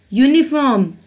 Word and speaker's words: uniform: unicorn are vowel letters they are beginning with vowel letters but they make a consonant sound they produce a consonant sound european you sound uniform you sound Union you sound and unicorn you sound I'm emphasizing on the